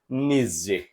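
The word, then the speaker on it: Nietzsche: तो जर्मन फिलॉसोफर का नाम आता है फ्रेडरिक निजे फ्रेडरिक निज़जे चलिए एफ आर आई ई डी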